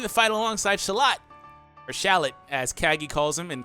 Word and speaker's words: Shallot: so hey since he's gonna be calling himself shallot in the game that's how you pronounce it I guess overall new characters join